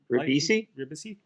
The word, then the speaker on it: Ribisi: Ribisi.